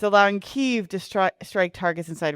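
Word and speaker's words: Kyiv: I think it's called Kev now. Are we saying Kiev? Kiev is the imperial pronunciation. The Russian imperialist pronunciation.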